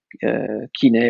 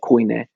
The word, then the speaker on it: koine: I mean, what has been recently redefined or relabeled as a Byzantine kine or koine, depending on you pronounce it.